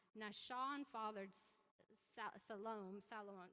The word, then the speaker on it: Solomon: Sean fathered south alone Solomon you can say Salman but it doesn't not how you say it it's alone and